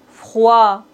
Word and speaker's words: froid: On ne doit pas prononcer C final. Blanc. Bon. D comme le nid. Froid.